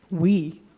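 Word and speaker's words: Huy: Did you see how he pronounced that? We. We. We. H-U-Y.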